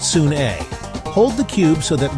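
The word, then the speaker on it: Sune: That's pronounced soon-a.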